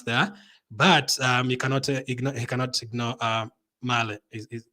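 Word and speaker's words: Mæhle: Now, they have a tough fixture against France there, but you cannot ignore Male. That's how you pronounce his name. Joachim Male.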